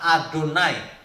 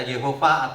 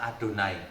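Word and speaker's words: יהוה: Yang dibacanya adalah Adonai, bukan dibaca Yehova atau Yahweh, bukan. Itu dibaca Adonai yang benar. Sampai hari ini orang Yahudi tetap panggilnya Adonai.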